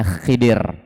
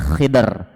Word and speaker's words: Khidr: Ya, beliau adalah Nabiullah Khadir. Ya, sebagian membacanya Khidir, ada yang bacanya Khidr dengan mensukunkan huruf dha-nya. Ya, dia adalah Nabiullah Khidir.